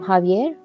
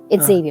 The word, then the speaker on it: Xavier: only but but uh because in Spanish it's Javier in Spanish it's but since my name since my name starts with an X it's Xavier if it was Javier it be with a J but you know M